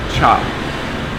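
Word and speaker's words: trà: But anyways, in Vietnamese, you spell the word tea, or the word tea is spelled T-R-A, but it's pronounced, don't know if I'm gonna get this right, but I think it's cha.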